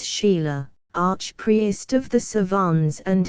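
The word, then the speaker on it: Chayla: Now the head and forefront of the persecution, after Lamoignon de Baville, François de Langlade du Chéla, pronounced Sheila, archpriest of the Savans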